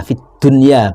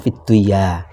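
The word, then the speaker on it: فِي الدُّنْيَا: Rabbana atina fid dunya bukan fidduya termasuk ketika ro di fathah itu kan ro.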